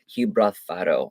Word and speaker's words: Gibralfaro: And then the Castillo de Gibralfaro.